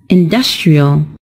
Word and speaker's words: industrial: pronounce it as industry when we turn it into an adjective the stressed syllable is also changed and it's pronounced as Industrial we are affecting the